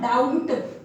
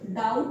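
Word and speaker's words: doubt: फिर वर्ड आता है D-O-U-B-T, डाउट, नॉट डाउट, डाउट कहते हैं यानी कि शंका।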